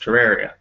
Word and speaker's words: Terraria: Terraria? But that's how it's pronounced, Terraria.